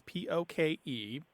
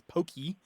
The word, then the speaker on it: poke: to go back to the fish dish is p o k e pronounced basically as poke although in the mouths the mouths of angones it usually comes out as Pokey or poke poke um I have seen it